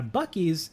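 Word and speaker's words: Buc-ee's: also have one in Florida um but yeah bues is wellknown uh not not spelled that way it's spelled differently it's spelled bu u c hyphen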